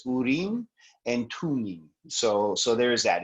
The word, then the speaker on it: Urim and Thummim: hearing them called the urim and thummim but um according to a friend of mine who speaks farsi the the way that it's actually pronounced is urine and tuning so so there's that